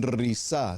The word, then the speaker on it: Risa: Acampan en risá se escribe, lo voy a delitrear, r i s a como risa, pero con doble s.